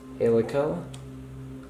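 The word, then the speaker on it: Haleakalā: Like here's the Badlands, Canyonlands, Glacier, Helica, that's how you pronounce it, Hawaii Volcanoes, Joshua Tree, Lake Clark, Mount Rainier, Virgin Islands.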